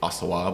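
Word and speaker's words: Auxerrois: around, pop ups and things, like, what is Asawa? And, and I, the first time I read it, I certainly mispronounced it, but it's spelled A U X E R R O I S. So not phonetically Ossawa, but that's, that's how they pronounce it.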